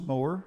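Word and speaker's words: Mower: moer as an english composer and it is pronounced moer according to himself and this is the third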